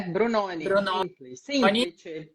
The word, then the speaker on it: Brunoni: falar alguma coisa tá krna brunoni é assim que pronuncia seu nome sim é brunoni brunoni é da onde esse